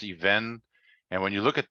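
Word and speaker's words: אבן: before, but the even, it's spelled even, or it's pronounced even.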